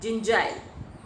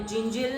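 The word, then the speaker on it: Jingile: There was a greedy young man named जिंजाइल. यहाँ पे जिंजिल नहीं, जिंजाइल. Listen the pronunciation carefully.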